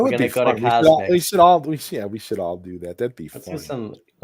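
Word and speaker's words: CosMc's: How do you say it? Cos MCs or the McDonald's Cosmics, isn't it? Cosmics.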